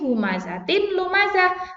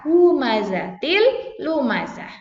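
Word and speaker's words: هُمَزَةٍ لُّمَزَةٍ: Tulisannya ini humazatin lumazah, tapi dibaca humazatil lumazah.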